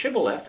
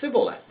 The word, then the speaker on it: Shibboleth: said they unto Him say Shibboleth and he said Sybil it for you could not frame to pronounce it right this is fairly common